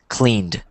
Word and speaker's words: cleaned: This one doesn't have the T, so it's probably confusing, but it's cleaned. Cleaned. There you go, cleaned.